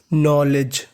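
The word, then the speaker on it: knowledge: पढ़ते हैं जा और आपको एन से पहले के लिखा मिला है अगर आपको कभी एन से पहले के लिखा मिले तो हमें के का उच्चारण नहीं करना होता यह हमारा रूल होता है तो इतनी मीनिंग बनी नो एल ईडी जी ई लेज नॉलेज नॉलेज नॉलेज का मतलब होता है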